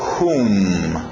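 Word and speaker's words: whom: quem e por final hum hum não confunde com sala room forte no R aqui é hum mais ou menos o som do H hum ah só uma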